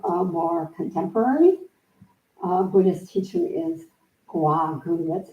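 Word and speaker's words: Gou Gu: Another more contemporary Buddhist teacher is Gua Gu. That's spelled G-O-U-G-U, Gua Gu, is a Zen teacher from the Tallahassee um, Zen Center.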